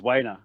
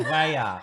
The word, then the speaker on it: Weyer: Did you say his name is Wayner? What? Weyer.